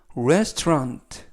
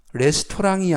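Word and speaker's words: restaurant: 식당이나 음식점이라는 뜻이 되겠습니다 발음에 유의하실 점은 rest 레스토랑이 아니라 rest 이때 au 발음은 거의 나지 않습니다 au 발음이 모음은 아니지만 중간에 있는 au 발음이 어 거의 나지 않아서 rest rest restant라고 발음하시면 되겠습니다 즉 전체적 의미는 여기는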